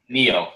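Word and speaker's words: Nioh: Neo or Nio, however you want to pronounce it. That's Neo.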